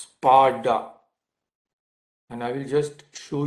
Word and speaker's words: Sparta: but it is pronounced the t is pronounced like d so it is pronounced parda and I will just